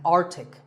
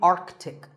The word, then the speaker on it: Arctic: Pole of the Earth it's mispronounced by many as Arctic but it's actually Arctic the sea in the middle is not silent similarly Antarctic and Antarctica